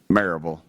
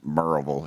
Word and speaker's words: Maryville: Maryville. It's pronounced Maryville if you're from there, but you would pronounce it Maryville, Maryville. It's in Blount County, backs right up the Smoky Mountains.